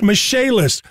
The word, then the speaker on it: Michaelis: Spelled Michaelis, pronounced Michaelis.